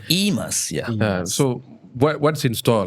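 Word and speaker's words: eMas: Am I pronouncing correctly? It's E.MAS, right? E.MAS, yeah.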